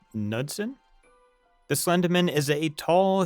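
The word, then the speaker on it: Knudsen: The Slender Man was created on the internet by Paranormal Photoshop Contest in 2009 by Eric, I believe it's pronounced Nudson.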